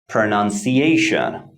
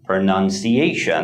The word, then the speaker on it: pronunciation: a few more examples pronunciation pronunciation the word pronunciation has 1 2 3 4 and five five syllables the primary stress falls on the fourth syllable a and the secondary